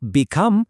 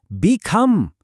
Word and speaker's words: become: Look at these examples. It's not alone. It's alone. Not become but become. Really feel that stress.